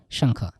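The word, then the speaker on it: 上课: সাংখ। এই যে সাংখ, হ্যাঁ, এই যে সাং, এই যে খ, হ্যাঁ, এই যে খোয়া লেখা আছে, তার মানে আপনারা খোয়াই বলবেন না, কিন্তু এখানে উচ্চারণটা হবে খ, ঠিক আছে।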